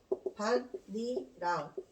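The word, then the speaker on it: 밭이랑: 밭, 음절의 끝소리 규칙, 디귿이에요. 티읕이 디귿으로 발음된다. 뒤에 니은이 첨가된다. 니은 첨가. 니은이 첨가되고 난 다음에 디귿이 니은에 동화돼서 반, 니, 랑 비음이 일어난다. 이렇게 분석하는 거 시험에 나오거든. 순서가 1번, 2번, 3번 순서에 따라서 반니랑으로 발음되고 이랑이 실질적인 중심 의미가 있으면 반니랑은 합성어가 됩니다.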